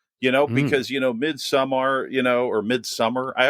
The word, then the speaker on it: Midsommar: You know, because, you know, Midsommar, you know, or Midsommar, I always feel weird saying that. Midsommar. That's how Ari Aster says it.